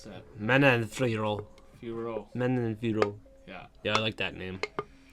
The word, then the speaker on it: Manon Fiorot: Nah, but I'm going 144 with, how do you pronounce that? Manon Fiorot.